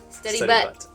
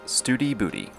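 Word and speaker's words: Study Butte: to studybuddy or as kara likes to say steady butt spell b-u-t-t-e turns out we were both wrong it's pronounced studi booty the drive here was super pretty it was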